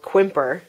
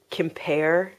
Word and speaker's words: Quimper: Okay, we had talked about in the last podcast buying a huge lot of what we called Quimper, but people told us it was called Kimper.